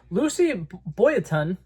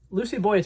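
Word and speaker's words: Lucy Boynton: down her name I'm going to say it Lucy Boon Lucy Boon I'm GNA say it twice because I had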